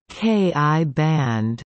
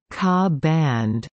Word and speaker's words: Ka band: The Ka band, pronounced as either Ki band or Ka band, is a portion of